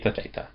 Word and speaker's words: theta: A and then the last one theta has a th sound like thing.